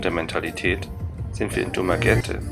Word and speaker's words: Dumaguete: Nachdem wir uns vorher mit den Philippinen sehr schwer getan haben und der Mentalität sind wir in Dummer Gente und das wird genauso ausgesprochen zum ersten Mal richtig angekommen.